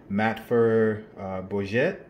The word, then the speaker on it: Matfer Bourgeat: French company which I will surely butcher its pronunciation despite being from Louisiana called matfer bourgeat which it's fel ma f TR bo u